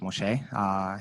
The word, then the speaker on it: Moshe: My name is Moshe. That's how it's pronounced, Moshe.